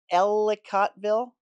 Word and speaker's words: Ellicottville: Ellicottville, I said it right.